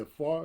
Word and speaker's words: Afar: On your album, The Travel Through Sound, right, with DJ Afar. Am I saying it correctly? Yes, sir. Afar.